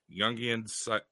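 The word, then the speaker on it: Jung: go it's hold on Youngy like Carl Young I know it's a j but that's how you pronounce it psychology and Analysis and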